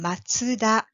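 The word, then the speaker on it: マツダ: Powerful figures in the regions and Matsu in matsuda with Japanese people pronounce for Mazda means pine trees so matzahan's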